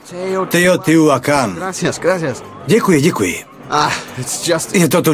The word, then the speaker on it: Teotihuacán: Promiňte, jak vyslovujete jméno toho místa? Teotihuacán. Teotihuacán.